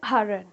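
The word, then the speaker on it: iron: And American English में क्या हो जाता है ना, हल्का सा र का साउंड आ जाता है. इट जस्ट लाइक हरन, हरन. उनके एक्सेंट में इंडियन इंग्लिश प्रोनाउंसिएशन और ब्रिटिश इंग्लिश प्रोनाउंसिएशन में इसको आयन बोलते हैं, आर साइलेंट होता है.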